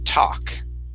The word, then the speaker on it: talk: to be uh talk remember that L is silent instead of talk it's talk oh yeah talk okay and